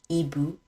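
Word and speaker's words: hibou: silent in this example EBU an owl the H is silent other examples like Hospital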